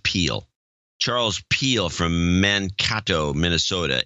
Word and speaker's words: Pell: Charles Pell, a.k.a. Sir Opticius in Mankato, Minnesota. 260-59. Charles, it's actually pronounced Peel.